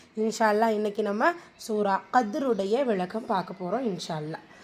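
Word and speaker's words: قدر: சுக்குன் கரியா சேர்த்து சொல்லணும் கதர் லெட்டர் காப் வந்து வலி எழுத்து அதற்கான உச்சரிப்பு கொடுத்து ஓதணும் தால் சுக்குூன் பேச்சு வந்திருக்கு கல்கத்து சுகரா சிறிதாக அசைச்சு ஓதணும் வசனத்துடைய முடிவுல ரா கெஸ்ரா பிச்சு வந்துருக்கு.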